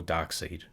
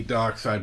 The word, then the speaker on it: Darkseid: of darkseid himself or dark seed dark side yeah it's dark side it's spelt taxi but